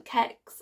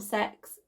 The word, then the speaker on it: CeX: i got these from kecks or sex depends how you think that it should be pronounced and that's cex in